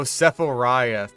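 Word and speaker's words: Sephiroth: Didn't he pronounce it like Safarith or something? Safirus from Final Fantasy. He has a really long sword. Oh, Sephoriath.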